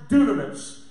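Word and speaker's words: δύναμις: The word power in the Greek is pronounced dunamis.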